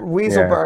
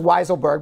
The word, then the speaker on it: Weisselberg: Weaselberg, yeah. But I think it's pronounced Weiselberg, but we'll call him Weaselberg.